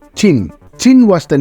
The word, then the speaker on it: Qin: It is written as Qin but pronounced as Qin.